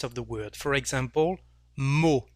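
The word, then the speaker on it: mot: the word for example mo here we don't pronounce the letter t so the sound o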